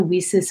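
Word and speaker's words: WiCyS: of information about the wheesus organization so we often go by our acronym lisa's w-i-c-y-s and it's pronounced like we sisters and that's exactly what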